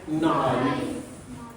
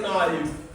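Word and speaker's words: knife: देखो हम अंग्रेजी में इसको बोलते हैं नाइफ, यानी कि जबकि हमें बोलना चाहिए क्या? नाइफ। तो इसमें क्या? हाँ बताइए। हाँ, क्योंकि यहाँ के चुपचाप रहता है, के साइलेंट रहता है।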